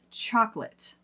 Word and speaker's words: chocolate: How about chocolate? Everybody's likes chocolate. But do you like dropping that middle syllable in chocolate? Do you like dark chocolate? I do like dark chocolate. Chocolate, Not chocolate.